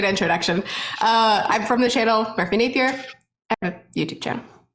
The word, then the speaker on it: Merphy Napier: And last but absolutely not least is the amazing Merphy Napier. How's it going? Welcome. Hey, you got my name. So many people say Napier when they when they guess on the pronunciation. But that was correct.